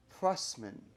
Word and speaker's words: Prussman: I'm going to say it, and let's see if I get it right, because I always say your last name wrong. Stacey Prussman. Prussman.